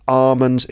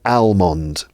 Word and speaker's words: almond: they're Armen shaped and notice the pronunciation of Armond uh also has a silent letter in this case the silent letter is L so that's Armond it's not almond it's Armen other words with a